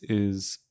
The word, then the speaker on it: is: It's spelled is, but I'm pronouncing it with a broad S. This is an irregularity in Irish